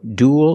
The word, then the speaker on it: duel: We see with the first three, they're pronounced pretty much the same. Cruel, gruel, and duel. They all have the oo sound plus a dark L, ool, like pool and cool.